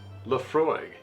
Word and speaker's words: Laphroaig: old Scotch this is the Laphroaig 10 Laphroaig pronounced Laphroaig is an all malt scotch whiskey from the